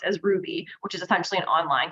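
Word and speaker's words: Rouxbe: LinkedIn Learning, Masterclass, and what is I've learned pronounced as Ruby, which is essentially an online culinary school.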